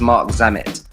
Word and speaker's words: Marc Zammit: get wrong about you said it correctly it's Mark zamit all right from Pandora you guys I met